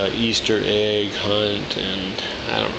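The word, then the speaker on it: Ys: There is no apostrophe in East, and despite whatever you hear on other people's channels, it is not pronounced Ease. like ease your way into this game. It is pronounced east. The S is sharp.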